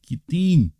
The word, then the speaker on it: Kittim: The I is pronounced like an E, Kittim, and Dodanim, right?